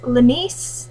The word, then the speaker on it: Lenice: And Lenice, that's actually how you pronounce her name.